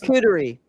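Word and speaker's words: charcuterie: Charerie.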